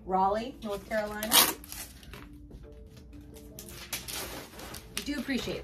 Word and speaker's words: Raleigh: Raleigh, North Carolina. I do appreciate that. Because I do suck at pronunciation sometimes.